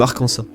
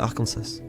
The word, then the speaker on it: Arkansas: Un sénateur a même essayé de le faire sonner plus anglais comme Arkansas. Mais à ce moment-là, tout le monde disait déjà Arkansas. Alors, l'État a adopté une résolution faisant de cette prononciation la version officielle, donc le mot et la prononciation de Arkansas.